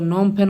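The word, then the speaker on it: Phnom Penh: Capital होता है वो नोम फेन होता है, और करेंसी होती है वहाँ की रियल। दोस्तों इसमें आपका नोम में जो आपका पीएच दिख रहा है ये दोस्तों आपका साइलेंट है।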